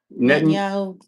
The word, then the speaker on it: Netanyahu: Is that how you pronounce it? Netanyahu.